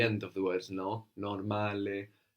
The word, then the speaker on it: normale: So we have the O giving us an O sound, like in orange, and the A is pronounced A.